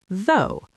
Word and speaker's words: though: So, though is pronounced like though. It rhymes with go or no. The o u g h at the end is completely silent here.